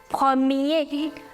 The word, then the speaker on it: premier: So first in French is known as premier. Premier. Bah, répétez après moi. Premier. Now that's masculine. Feminine would be première. Premier. Here you do not pronounce this R. So you say premier.